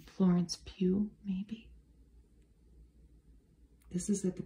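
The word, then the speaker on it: Florence Pugh: too all the time I think you say her name Florence Pew Maybe this is at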